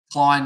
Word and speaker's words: Klein: I mean, I know that someone said that Klein is pronounced like stain. So Klein is how they wanted me to pronounce it. Is that correct?